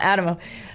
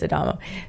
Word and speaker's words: Adamo: I know it's not Adamo. I'm saying it Adamo. Yes. It's spelled like Adamo, but it's Adamo.